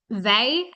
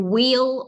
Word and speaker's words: Weil: Um and we pronounce her name V as opposed to wheel or whale.